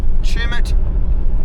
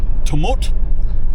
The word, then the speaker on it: Tumut: Um so left uh Chimut or as one bloke who was in the um the thermal pools pronounced it tummut. I had to correct him.